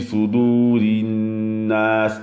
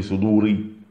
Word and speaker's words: صدور الناس: nez, et le ra, comme il est avec une kasra, il sera muraqqaq, c'est-à-dire qu'on va le prononcer, d'accord, de manière douce, c'est-à-dire qu'on dira fi sudurinnas, d'accord. On va pas dire fait soudouri.